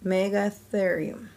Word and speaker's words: Megatherium: Megatherium. You say it like this, Megatherium.